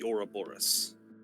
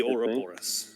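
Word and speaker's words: Ouroboros: its own tail the Ora Boris I believe that's how that's pronounced yep yeah that's correct the Ora Boris yeah that symbol is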